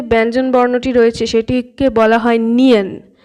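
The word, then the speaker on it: 니은: ঠিক আছে, এবার নেক্সট যে ব্যঞ্জনবর্ণটি রয়েছে সেটিকে বলা হয় নিয়ন। এই নিয়নের আমাদের বাংলা নয়ের মতো উচ্চারণ, না না।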